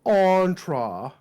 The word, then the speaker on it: Entra: pronounced on because you told me yeah but it's spelled entra entra yeah but no it's entra good stupid stupid product can't win product of